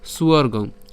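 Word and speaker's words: স্বর্গং: এটা হচ্ছে অন্তস্থব আর অন্তস্থের উচ্চারণ কার মত হয় উর মত হয় তাইলে উন এবং যে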